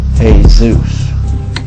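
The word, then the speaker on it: Jesús: sanskrit and in it the spelling of jesus is pronounced hey zeus to discover that the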